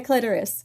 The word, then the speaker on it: clitoris: Clitoris. Wait, you say do you I say clitoris. Okay, that's right. English language is amazing. Clitoris clitoris. Dolores. It rhymes with Dolores from Seinfeld.